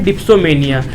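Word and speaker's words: dipsomania: इसकी right pronunciation है डिप्सोमेनिया, जैसा कि मुझे आदित्य ने बताया, ठीक है। इसको हम डिप्सोमेनिया कहते हैं।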